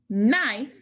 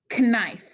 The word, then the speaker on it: knife: So instead of saying knife, like we do, people would say knife. Slowly, though, those sounds were dropped.